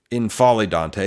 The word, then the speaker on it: N'Faly Dante: Because for the last several years, a long time, when healthy, N'Faly Dante has been, N'Faly Dante, I think is how you're supposed to pronounce it, Dante has been a one-man defense at times.